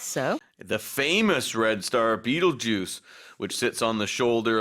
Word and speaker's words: Betelgeuse: 영어로는 Betelgeuse 이렇게 발음합니다.